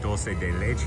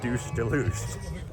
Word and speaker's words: dulce de leche: Got a little bit of dulce de leche right there. It's kind of like caramel. It is not pronounced douche de louche.